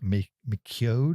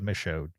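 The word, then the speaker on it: Michôd: Anyway, um Christy directed by David Miko, I think is how you say his. No, Micho. David Misho, uh who on accident I've seen a bunch of his movies.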